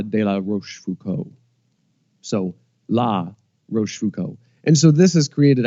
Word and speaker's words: Rochefoucauld: last name is French how do you correctly pronounce Roche Foucault right there you got it I got it the pepper yep Wow Roche food Co yep now why was